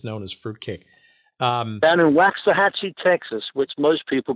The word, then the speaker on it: Waxahachie: Down in Waxahachie, Texas, which most people pronounce as Waxahachie.